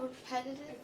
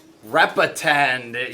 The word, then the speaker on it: repetend: It's called repetitive. Repetend. Yeah, Sophie actually pronounced it right.